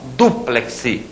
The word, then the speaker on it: dúplex: ali que é impressionante Ó dúplex você compra um armário duplex você não compra um armário duplex a palavra é parox Citro aquele ú tem acento duplex tá e não duplex que é a a a pronúncia corrente perigosa né Essa engana muita gente prosseguindo aqui ó Batavo